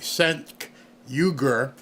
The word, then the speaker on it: Cenk Uygur: And if you don't know who this guy is, let me pronounce his name correctly. Cenk Uygur.